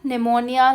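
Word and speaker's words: pneumonia: तो याद रखना है आपको, स्मॉलेस्ट सेल है PPLO, pleuro निमोनिया like organism. याद रखिए, निमोनिया की स्पेलिंग में P साइलेंट रहता है।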